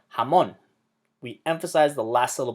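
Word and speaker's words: jamón: end but it's not following the rules of pronunciation if it did it would sound like this come on but we don't say jamon we say jamon we emphasize the last little belong that word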